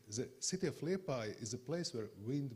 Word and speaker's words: Liepāja: to remember it's in lepai the second thing why I'm feeling like at home is power you are first Portuguese who pronounced my city correct you are always saying LePage you are the first